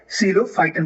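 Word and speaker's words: Psilophyton: बने हमारे, एक मिनट, सीलोफाइटन बने, राइट। यहाँ पी क्या है, साइलेंट है, ठीक है।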